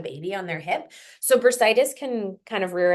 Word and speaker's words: bursitis: They said I was told it is bursitis. Am I pronouncing that right?